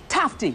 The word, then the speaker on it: Tufte: her uncle Steve and it's tough T that's how it's pronounced Steve Tufte that after she found